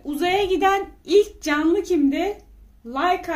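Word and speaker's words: Laika: giden ilk canlı kimde like adında bir köpek like diye okunuyor Aya ilk ayak basan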